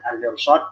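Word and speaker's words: المرصاد: Al-mirsad di sini rohnya roh tebal, ya.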